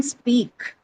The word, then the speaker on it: speak: Is it aspirated in speak? No ma'am. No ma'am. No. Right. No. No aspiration.